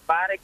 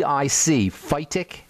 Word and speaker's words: phytic: You talk about the phytic acid. How do you how do you spell that? Phytic acid. Yes. The phytic phytic acid. PHY ti phitic acid.